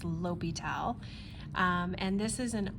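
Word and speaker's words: L'Hôpital: O and the P it looks like hospital but it's not pronounced hospital it's Lyal um and this is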